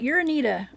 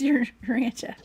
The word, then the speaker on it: Urantia: It looks like Uranita, but it's Urantia.